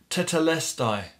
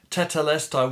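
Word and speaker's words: τετέλεσται: it was this word tatalestai probably pronounced it wrong but tetelestai which meant this paid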